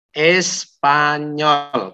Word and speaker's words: espagnol: Espanyol, karena G sama N itu bacanya NZ, ditulis ya, biar Anda nggak lupa ya. P, G itu bacanya NZ, maka Espanyol.